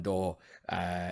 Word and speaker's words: Daw: He's on Twitter as Dan Door Creative, I think. Wait, how's it spelled? How's the last Door? DAW. Daw? Yeah, literally like Dan Daw, like digital audio. But it's pronounced door.